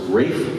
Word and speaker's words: Ralph: great great british composer rafe von williams looks like ralph he pronounced it rape born in 1872 and